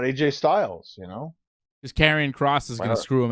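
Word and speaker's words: Karrion Kross: I was like Karrion Cross. But it does sound like Korean Cross, which is fun.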